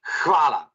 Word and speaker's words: hvala: want to say is overpronounce the H. So, many H's in English language are not very pronounced, and you kind of mute it. Slovenians overpronounce it. You must even overpronounce it. So try to kind of almost spit on the web camera.